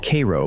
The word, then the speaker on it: Cairo: Cairo, pronounced Kay-ro by the locals, sits at the confluence of the Mississippi and the Ohio rivers.